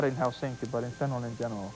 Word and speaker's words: Helsinki: That's a lovely We pronounce it Helsinki.